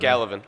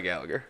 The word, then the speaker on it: Gallivan: And Gallivan. Heyo. How do you say it? Gallivan. Gallivan. I want to say Gallagher. A lot of people say Gallagher.